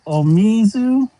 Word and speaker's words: Omizu: De La Soul Child, it's Omizu. Sorry if I'm yelling. Like O, me, and Zoo.